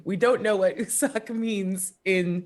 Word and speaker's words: Usak: Yeah, because it's like, which Yeah, is very funny.